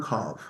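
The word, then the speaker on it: Cobh: It's just a false Gaelicism because it's a homophone of Cove.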